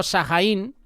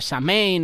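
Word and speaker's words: Samhain: o festival de Shaín. Es el día de todos los santos. Yo digo Sahajaín porque así es como lo pronunciamos aquí en España. Seguramente tiene otro nombre, Samein o como lo quieras llamar.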